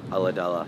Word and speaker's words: Ulladulla: So you were born in, how do you say it, Ulladulla? Ulladulla, yeah.